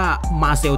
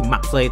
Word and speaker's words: Marseille: เป็น ภาษา อังกฤษ ว่า มา เซลล์ เธอ นะ ครับ หรือ ถ้า เกิด ออก เสียง เป็น ภาษา ฝรั่งเศส ต้น ฉบับ คือ มัก ใส่ เธอ นะ ครับ หรือ ชื่อ